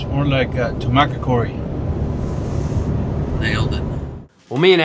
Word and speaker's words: Tucumcari: here we're way later son says a Tucumcari then how you pronounce that I know it's more than that to market Cory nailed it well me and Adam finally make